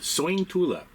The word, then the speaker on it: Sointula: We're about to leave Soy Tula, which we were wondering how it was pronounced and uh we got from a local.